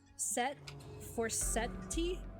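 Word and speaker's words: Forseti: For Seti?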